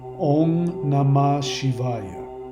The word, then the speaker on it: Om Namah Shivaya: If you followed me, this is the actual pronunciation that you want to do. Om Namah Shivaya. O-N-G. Om, not Om. Om. Om Namah Shivaya.